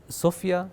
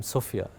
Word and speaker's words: Sofya: And I don't know, something about the name Sofia, it just comes off your tongue na sound mzuri. So I said, okay, I want that. It rhymes with sofa, so I'll go with that too.